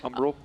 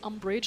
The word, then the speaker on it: Umbral: Umbral. Umbral. Umbral. I always want to say umbrage like Harry Potter.